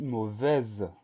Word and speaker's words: mauvais: à y on a une lettre muette le est-ce qu'on n'entend pas mais se laisse là on va le retrouver si on dit mauvaise donc ce s muet